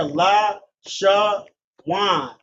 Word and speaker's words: Lashawan: See here, La, Sha, Wan. Connected on the La, meaning a La. Connected on the Sha, making the syllable Sha, 1 syllable. Then a connector on the Wa and Na, making Wa and Na connected as Wan. Given the pronunciation of Lashawan, and the syllables being Lashawan.